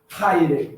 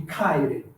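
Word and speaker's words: χαῖρε: Haire, em vez de kaire. Tá? Mas, para facilitar, vamos adotar a pronúncia clássica por enquanto.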